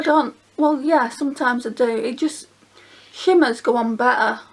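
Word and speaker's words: d'Or: It's called Doi, which is spelled D''O''R.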